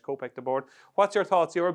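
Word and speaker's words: Kopek Des Bordes: your I should say copc the board I keep pronouncing the S but obviously it's French copc the board what's your thoughts you're a big K.T fan are you still a big k.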